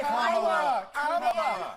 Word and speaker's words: Kamala: Let's start, Lefties, with this almighty group meltdown on CNN because Nancy Mace allegedly mispronounced Queen Kamala's name. Watch this demented carry-on. And right. Kamala Harris, if Kamala.